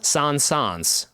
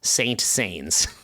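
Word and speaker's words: Saint-Saëns: line he wrote is I'm going to try to pronounce it right because that's part of the joke Camille Sans was racked with pays when people addressed him as Saint Saints so in our language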